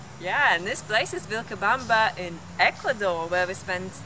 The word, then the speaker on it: Vilcabamba: Now Vilcabamba, as it's pronounced in Spanish, Vilcabamba is known, or was known, as the Valley of Longevity.